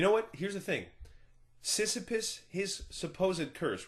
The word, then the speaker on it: Sisyphus: It's pronounced Sisyphus.